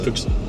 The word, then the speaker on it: Füchse: Füchse. Füchse? Füchse. Füchse? Füchse. The letter is an U. Füchse. Yeah. Füchse. Füchse. Füchse.